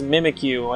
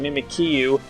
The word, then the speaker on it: Mimikyu: the next one is mimikyu I I said its name wrong when I first found it I called it mimikyu even though is obviously mimikyu which is an awful